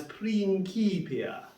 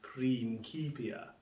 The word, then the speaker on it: Principia: Latin, then you'd extend the vowels and you pronounce this word of this book as Principia. And of course, I've never heard anyone refer to this book as Isaac Newton's Principia.